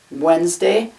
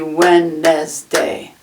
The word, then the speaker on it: Wednesday: is the word wednesday wednesday has two syllables if you look at it though it looks like it could be when nes day so it's very confusing